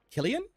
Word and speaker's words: Cillian: Cillian's a hard C. So is it Killian?